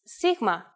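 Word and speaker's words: σίγμα: of the Greek language in English it's often called Sigma but in Greek it's Sigma and makes a s sound interestingly enough this letter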